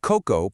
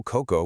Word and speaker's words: coco: So, coco, pronounced c o k o coco with the stress securely on the first syllable, means coconut.